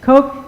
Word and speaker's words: Koch: say that you know like those guys but Koch Institute perfect same guys and they do some with integrity in Integrative Cancer Research dr.